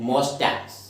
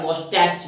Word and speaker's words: moustaches: ये वर्ड होती है वे, इसको हम बोलते हैं मोस्टैक्स। मोस्टैक्स, मूछे, MOUSTACHES, मोस्टैक्स।